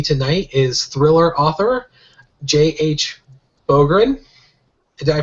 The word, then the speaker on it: Bográn: Bográn. Did I pronounce that right?